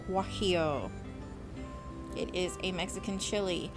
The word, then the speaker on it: Guajillo: It is spelled Guajillo, pronounced Guajillo.